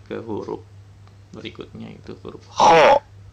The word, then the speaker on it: خاء: Lanjut ke huruf berikutnya, itu huruf kho. Makhraj huruf kho adalah tenggorokan bagian atas.